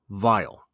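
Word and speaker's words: vial: my favorite irony here is the vile v i a l as you would imagine that's someplace like where you put perfume which is what the poem is talking about but it's also uh phonetically the same word as v i l e something which is very very bad makes Mak sweet some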